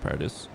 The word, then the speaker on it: Paradis: erson district in Paradis it's actually pronounced Paradis I'm making it more French because this game at